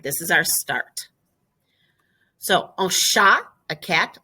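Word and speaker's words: chat: is our start so sha a cat like the word cat without the h you just don't pronounce the h oh sha i guess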